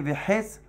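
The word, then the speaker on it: וחץ: Ktiv, quand c'est marqué Vehes Hanito, c'est marqué au sujet du bouclier de Goliath, c'est marqué Vehes Hanito. Hes, normalement, c'est une flèche, mais nous on le prononce Vehes, le bois justement de sa lance, pas de son bouclier, de sa lance, du javelot.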